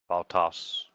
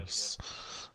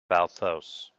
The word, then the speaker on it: Valthos: like you keep pronouncing my name without the H. Valtos. Valtos? Say it again. Valthos. Valthos.